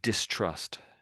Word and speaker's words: distrust: So, distrust. Distrust. Distrust. Distrust. Distrust. That's right. Then the first time you sort of missed out the tea a little bit.